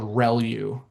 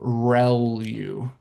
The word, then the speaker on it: ReLU: The The way you pronounce this is called ReLU. So, ReLU. R E L U.